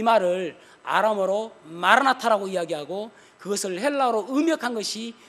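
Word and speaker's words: Maranatha: 정확하게 발음한다면 마라나타, 번데기 발음이에요. 마라나타라고 번역하는 게 더 정확한 발음이에요. 번데기 아거든요. 알파거든요. 제일 마지막이.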